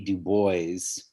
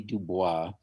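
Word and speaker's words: Du Bois: exactly how to pronounce that seems like everybody pronounces it uh w.e.b dubois but she said it should be dubois and um he was a writer in the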